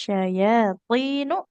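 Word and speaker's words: الشياطين: Wattaba'u ma tatlus sayatinu ala mulki Sulaiman. Oke, kita perhatikan panjang pendeknya. Wattaba'u ma Oh tatlus iya. syayatinu. Nunnya tidak panjang. Iya. Dhammah Oh, tidak ketemu waw, nggak boleh panjang ya.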